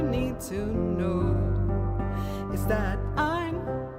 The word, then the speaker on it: Ein: All you need to know is that Ein rhymes with Stein and he willingly explain space, gravity, and time from 79 to 55.